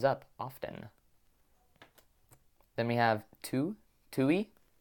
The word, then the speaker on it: tu: Then we have tui. I remember this word because it rhymes with you.